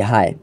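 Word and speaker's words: ہے: লেখা রয়েছে মুজাক্কার হাই আমি এটার উচ্চারণ করি হায় কিন্তু অনেকে রয়েছে এর উচ্চারণ করে হে এর পক্ষে উভয় দলেরই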